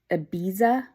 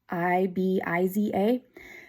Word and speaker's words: Ibiza: shade of the month um I think it's pronounced Ibiza i b i z a um that is this color right here this